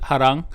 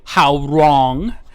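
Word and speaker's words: Hwoarang: mean but uh yeah i always pronounce it harang uh i think that's how most koreans pronounce it or uh most americans would say how wrong how long um or bob you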